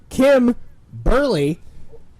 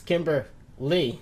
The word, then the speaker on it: Kimber Lee: stat lander took on Kim early it's Kimber Lee I don't give a